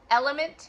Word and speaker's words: LMNT: I do LMNT, so element is what it's called, but it's spelled LMNT.